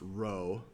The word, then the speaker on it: rho: letter row rho O It's pronounced row uh it is always